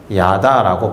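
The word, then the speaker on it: ידע: 어떻게 발음하느냐? 야다라고 발음합니다.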